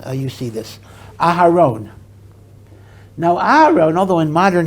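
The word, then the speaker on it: אהרן: However, occasionally, and in modern Hebrew it's not spelled this way all the time, Aharone is spelled with an extra vav between the Resh and the Nun to indicate the O sound.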